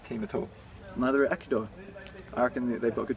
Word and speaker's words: Ecuador: then um can craig ekidor i think you should be can you stop saying ecuador ecuador i was using the spanish pronunciation um um yeah i think